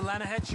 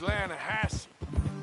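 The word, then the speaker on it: Lannahechee: it down to the Lana Hetchy River I caught some beautiful steelhead trout Lana no Lana hedge it runs right near here yeah for this pronounced Lana Hass why is everything in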